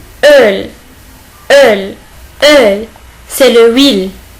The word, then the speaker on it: Öl: C'est O umlaut. Il se prononce comme un E. Öl. Öl.